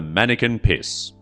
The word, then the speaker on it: Manneken Pis: Here you will find the Manneken Pis. And yes, I did look up if that was the correct pronunciation.